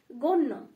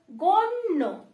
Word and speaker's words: গণ্য: ওকে, দুবারের মতো উচ্চারণ হয়েছে না, সত্য। ওকে, তাহলে পরের যে শব্দ রয়েছে, পরের শব্দ রয়েছে গণ্য। ওকে, গণ্য, তাহলে লিখে ফেলি গ ন জফলা, এটা মূর্ধন্য, গণ্য, গণ্য।